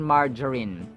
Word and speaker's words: margarine: SMS saccharine margarine margarine margarine so the G is pronounced as in J as in hydrogen oxygen Ginger so it's margarine it's not margarine It's